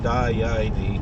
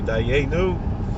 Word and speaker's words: Dayenu: Haitziuni, Haitziuni, Mitzrayim, Haitziuni, Da, Yaini, because they were Galicianer, Polish Galicianer, Hungarian, something. They pronounced what the other Jews would say, Dayenu. They said, Dayaini.